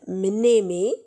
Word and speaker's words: mnémé: La mémoire, mémé, et ça s'écrit M-N, mnémé.